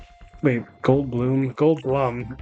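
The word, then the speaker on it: Goldblum: slightly muddled because there's the whole like Jeff Gold Bloom. Wait, Gold Bloom. Gold Blum, right?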